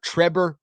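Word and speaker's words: Trebor: That is Syracuse transfer Trevor Pñena, spelled like Trevor, but with a B instead of a V.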